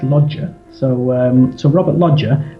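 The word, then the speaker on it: Loggia: that I've picked are Robert logier um that's how I say it but I believe that in Italian it's lodger so um so Robert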